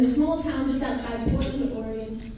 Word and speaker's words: Oregon: Yeah, you notice I pronounce Oregon, for any of you wondering. That's Oregon, it's Oregon.